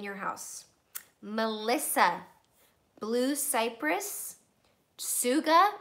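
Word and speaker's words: Tsuga: house Melissa blue Cyprus sukkah which is spelled TSU GA and RC and raven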